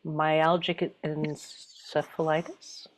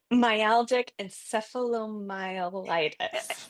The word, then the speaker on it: myalgic encephalomyelitis: Um, I never remember how to pronounce it. Myalgic encephalitis? Myalgic encephalomyelitis Encephalomyelitis.